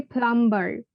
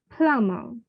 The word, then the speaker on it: plumber: exactly to pronounce so we should not say plumber no that's not correct this will be plummer and this one pizza pizza